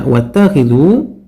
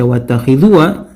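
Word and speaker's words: وَاتَّخِذُوا: Perhatikan ketika membaca wattakhidhu, kita tidak membaca wattakhidhuwa, ya, tapi kita membaca wattakhidhu. Jadi alifnya dianggap tidak ada. Ketika saya berhenti tadi, saya tidak baca alifnya, saya tidak baca wattakhidhuwa.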